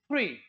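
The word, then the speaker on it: three: ऐसे एक वर्ड है थ्री, आम देसी बंदा इसको थ्री पढ़ता है, लेकिन इंग्लिश में अगर प्रोनाउंसिएशन करेंगे तो हाउ to correctly pronounce this is थ्री थ्री थ्री, इस तरीके से टंग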